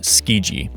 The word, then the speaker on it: Tsukiji: I know the pronunciation for this word kind of seems weird because of its spelling, but just know that it's pronounced Tsukiji.